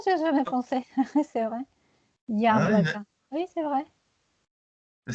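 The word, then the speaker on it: яблоко: C'est vrai qu'on prononce Yablaka, c'est pour ça ça vous fait penser à ça.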